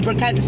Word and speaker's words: Brocante: I have been craving for the Brocantes to be back open again.